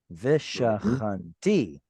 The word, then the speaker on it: ושכנתי: Yeah, it's a vekatal here. And that Oh, yeah. vekatal sends the stress to the end. Vishachanti. Excellent. Asu li mikdash vishachanti betocham.